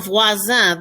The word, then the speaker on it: voisin: It rhymes with copain. Copain, cousin, voisin. All three of those all have the same sound to them.